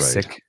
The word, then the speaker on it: Sikh: sick, right? So Yeah. we made the I long, but the six pronounce it sick.